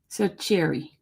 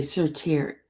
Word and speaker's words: certiorari: Cercheri. Doesn't sound right, but okay. Oh, okay. The T is pronounced as okay, sheer. Okay. I'm just gonna say certiorari. Certiorari.